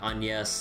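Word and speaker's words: Agnès: uh on yes book series but I always pronounce It Agnes because I never knew the pronunciation on yes like was a thing because uh accent marks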